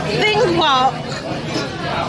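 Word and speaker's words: Þingvallavatn: Okay, so we were at this big lake, which is called Thingvallavatn.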